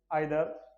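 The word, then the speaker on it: either: और डिस्ट्रीब्यूटिव जिसमें पढ़ेंगे ईच, एवरी, आइदर या फिर जैसे इधर भी बोलते हैं, दोनों प्रोनाउंसिएशन सही है।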